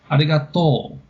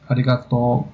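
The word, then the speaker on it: ありがとう: It sounds different in the way you stressed it then, but the one from Osaka goes down on the last syllable, arigato, and the one in Tokyo would be just high flat. Arigato.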